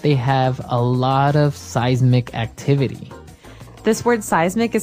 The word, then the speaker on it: seismic: affect us okay so that's seismic activity it's pronounced seismic right seismic seismic okay and uh because of all this